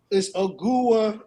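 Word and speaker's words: Ogugua: I'll tell you his name right now because I pronounced it earlier today. It's Ogua Anunoby.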